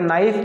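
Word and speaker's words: knife: और ये नाइफ, चाकू, इसमें के, इन सब में क्या है, के साइलेंट है दोस्तों, ये निशान लगा दिया मैंने ब्लैक से।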